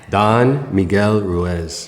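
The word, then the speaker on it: Don Miguel Ruiz: And man, Four Agreements written by Don Miguel Ruez. Yes. Yes. Thanks for pronouncing that right.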